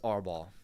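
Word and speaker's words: árbol: know they were going to ask that it's AR ball is that a bridge Brigade thing yeah it's pronoun it's spelled a r b o l but whenever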